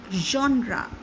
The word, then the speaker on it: genre: i'm sure you do not know the correct pronunciation the word is genre it means a particular type of literature art